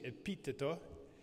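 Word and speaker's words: Epitteto: I think it's interesting to consider among the Stoics, who are very popular today, Epictetus, who is, the pronunciation in Italian is interesting, Epiteto, who is Epictetus in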